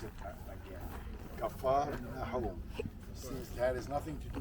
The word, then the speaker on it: Capharnaum: Now we know how to pronounce it again. Capharnaum.